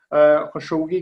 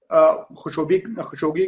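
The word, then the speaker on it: خاشقجي: खशोगी भी कहा जाता है और खाशगी भी उसकी प्रोनाउंसिएशन भी की जाती है, लेकिन खशोगी चलें, जो हमारे लिए एक सादा आम फ़हम जो लफ्ज़ इस्तेमाल में चला आ रहा है।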